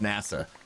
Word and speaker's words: Nassau: and and nasa spelled like nasu but it's pronounced nasa where are those that's that's caribbean right or